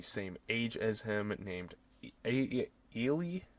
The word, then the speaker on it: Eli: as him, named Eli, I think is how they say it. I mean, obviously in America we would say Eli, but she's a girl, so they just say Eli. It's like a mix of Eli and Ellie, kind of.